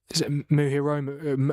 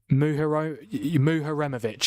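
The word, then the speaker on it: Muharemović: Is it Muhiroma? I forgot you say his name again. Muharemovic.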